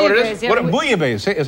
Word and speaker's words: bouillabaisse: What bouillabaisse? Is how it's pronounced?